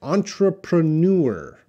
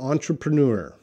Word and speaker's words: entrepreneur: can please pronounce okay this is a French word it comes I believe it comes from French language entrepreneur entrepreneur entrepreneur Oh MD